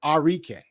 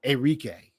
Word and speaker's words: Arike: It's Arike, not Enrique or Arik.